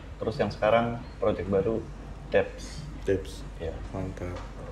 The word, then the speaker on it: Debs: Bacanya Debs ya? Debs.